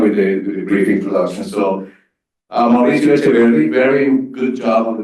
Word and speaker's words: Mauricio Echeverri: So Mauricio Echeverri, very good job on the pronunciation.